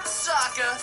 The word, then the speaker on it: Sokka: That's right, I'm Sokka. It's pronounced with an Akka.